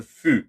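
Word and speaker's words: ふ: In the middle, we have a fu instead of a hu. That is because Japanese kind of pronounce that one differently. It's a mix between the F, so fu, and hu. So you kind of get like a airy fu, which sounds like fu.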